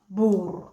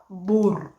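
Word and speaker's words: buur: Okay, according to the Luo dialects of the Luo of Barkazal, the word for whole is spelled as B-U-U-R. Bur.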